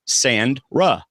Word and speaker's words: Sandra: It's like the beach, sand, Ra. Well, to save people from typing it later or tweeting it or whatever, it's pronounced like it's spelled, David. So just Sandra.